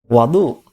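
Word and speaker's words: وضوء: msuso muatan muftatahan bintin lafal wudu dengan membaca damah wwya bermakna adalah menggunakan air pada anggota-anggota tertentu yang diawali dengan niat dan dengan terbaca fathah wabifiha dengan terbacanya fathah nya wawu Wadu bermakna Ma is sedangkan wudu dengan fathah wawunya Wadu maka berarti maknanya adalah alat atau air yang dipakai untuk berwudu dan wj lailat Isra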